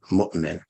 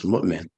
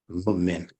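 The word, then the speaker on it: مؤمن: So we are in the habit of saying mu'min and pronouncing it with that Hamza guttural. But people who have studied Arabic traditionally, as Arabic was given from back in the day, what they call ancient Arabic, you're not going to find them pronouncing it as mu'min. You're going to find them pronouncing it as mu'min, mu'min, no Hamza.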